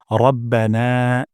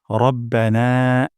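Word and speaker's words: رَبَّنَا: প্রথম শব্দটি হলো রব্বানা এখানে র মোটা করে উচ্চারণ করব না এখানে এক আলিফ পরিমাণ মাদ করব রব্বানা রব্বানা তারপর হামদ এখানে হামদ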